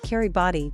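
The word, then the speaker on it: Kiribati: the Pacific Ocean where the very name of the country called Kerry body derived from the name Gilbert even though the name changed a lot not only because of the open syllables but also due to the fact that the local language lacked G and L sounds which were substituted by K and R respectively therefore it's a good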